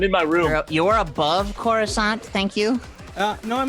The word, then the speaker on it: Coruscant: my room you're above coruscant thank you uh no i'm liking the viewing window uh it's pronounced coruscant thank you oh my